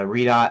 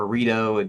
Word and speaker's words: Redot: This is the some this is an engine called uh Redot or Reto depends on how you want to pronounce it.